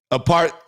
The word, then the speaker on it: apartheid: Apartheid. Hold on, Maya just corrected me. She said, babe, you don't pronounce the H in apartheid.